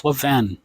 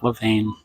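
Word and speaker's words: Levain: It's lavven, not lavane.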